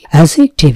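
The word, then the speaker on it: adjective: অ্যাজেক্টিভ, এখানে খেয়াল করতে হবে ডি এর উচ্চারণ হবে না।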